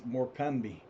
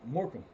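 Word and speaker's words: Morcome: To me it looks like it says it's morami. That's how I would say it. If I was to say the name without having other heard other people say it, I'd say Morami, but it's Morham.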